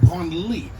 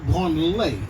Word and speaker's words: Branly: The Branly Museum is pronounced Branly, not Branley. If you pronounce it Branley, it becomes the museum for touching yourself.